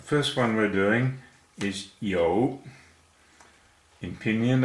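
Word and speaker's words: 有: The first one we're doing is yo. In Pinyin it's spelt Y-O-U, and it's pronounced like the first half of yoga.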